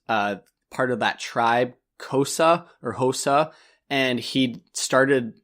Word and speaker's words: Xhosa: is actually an existing language it's like can't pronounce it it's X H OS a so cosa Xhosa and it is a South African language